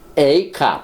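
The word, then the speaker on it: אֵיכָה: 여기 아예카 내가 어디 있느냐. 근데 에이카 발음만 다릅니다. 스펠은 똑같고 발음만 다르.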